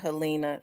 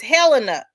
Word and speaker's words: Helena: And I I just got to have the calling it Helina cuz I I had been calling it Helina so long until somebody said, "You do know that's not how you pronounce it. It's Helena."